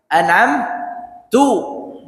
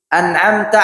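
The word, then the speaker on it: أَنْعَمْتَ: aku beri nikmatah ya an'amta alaihim jalan orang yang engkau ya Allah beri nikmat dia bacanya jalan yang aku beri nikmat kepada mereka ini. Ini salah besar. An'amta diganti jadi an'amtu.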